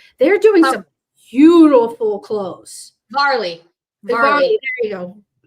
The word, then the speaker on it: Varley: I think it's called Valerie. It's a really good brand that we have that does a lot of sports. They're doing some beautiful clothes. Varley. There you go. Mispronounced. Varley.